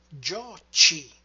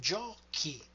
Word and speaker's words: giochi: But if we simply add the E in tu, then the sound would be gioci. And instead we want giochi.